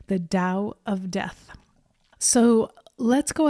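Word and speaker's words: Tao: understandable and pronounce it tau but it's actually pronounced with a D sound the Dow of death so let's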